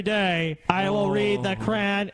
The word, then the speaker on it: Quran: I will read the Quran. Is that how you say it?